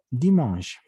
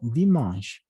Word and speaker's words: dimanche: Y por último, domingo, que es dimanche. ¿De acuerdo? Dimanche. Esta E no se pronuncia, simplemente es dimanche.